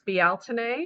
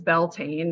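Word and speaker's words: Bealtaine: of Wiccan terms as belain that's actually kind of not the pronunciation because it's it's you know originally out of Irish language betin um it is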